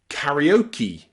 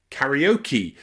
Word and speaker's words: karaoke: Finally, there are some special words in English where E is at the end of the word and it's pronounced E. Usually, they're words that are borrowed from other languages, especially Japanese. So words like karate, karate, or karaoke, karaoke, both of those end in E, but they're borrowed from another language.